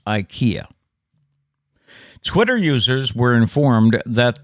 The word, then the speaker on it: IKEA: an i instead rather pronouncing the word with the e instead of an eye is the correct way to say ikea in swedish mind blown but that's